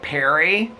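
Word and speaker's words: Pirie: Okay, it's like Perry. It's P I R I E. Oh, the battery just went to the halfway mark. Have I been vlogging that long? It's like Perry.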